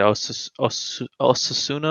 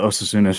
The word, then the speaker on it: Osasuna: Osasuna? How do you Osasuna.